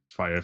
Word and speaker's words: Freyr: fire family. Fire family is he spit fire. How do you spell it? Fire. Like FIRE. FREYR.